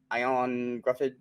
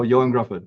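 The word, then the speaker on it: Ioan Gruffudd: I like him uh I'm gonna say his name wrong uh the original Mr Fantastic ion Gruff oh Yan Gruff yeah yeah ran Gruff he's on here um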